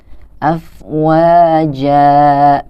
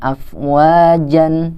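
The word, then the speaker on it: أفواجا: bacanya juga dua harokat afwaja Nah jadi bacanya bukan afwaj and tapi afwaja Nah mati What ini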